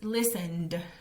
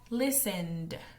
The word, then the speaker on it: listened: past of Listen is listened listened y como ves tiene un significado Perdón tiene una pronunciación que suena como una d la e d suena como d entonces este Listen en pasado sería listened listened luego tenemos live